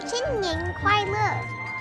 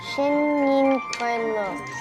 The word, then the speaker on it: 新年快乐: 新年快乐. 新年快乐.